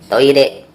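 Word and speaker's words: トイレ: Toire adalah kata serapan dari kata toilet dari bahasa Inggris, dibaca toire. Ejaannya toire, tapi pengucapan R jangan terlalu tegas. Ini lebih pada kombinasi antara L dan T, atau kalau dalam ejaan bahasa Indonesia mungkin ditulis sebagai TH.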